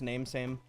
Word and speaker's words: Nami Sami: It's actually pronounced name same. Name same.